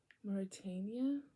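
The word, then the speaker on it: Mauretania: a n i a let's look it up morania okay okay morania morania that's how it's pronounced morania morania per excuse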